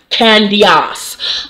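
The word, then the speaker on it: Candiace: candios because you know candice spells her name c-a-n-d-i-a-c-e i don't know why that guy is in there so her name is technically pronounced candios uh has moved into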